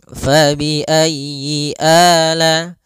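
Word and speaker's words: فبأي آلاء: faayi zi pada lafal fabiayyi ala di sini usahakan huruf ya-nya ditekan fabiayyi ala faiayyyi ayyi kemudian yinya pendek jangan dipanjang jangan Yi A tapi langsung saja fabiayyi ala Kemudian pada lafal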